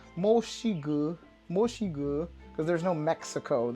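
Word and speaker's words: 墨西哥: And if you wanted to say Mexico, it's Moxigu, because there's no Mexico. You don't say Mexico in Chinese. You say Moxigu, because that's the closest they're going to say to Mexico with their pronunciation.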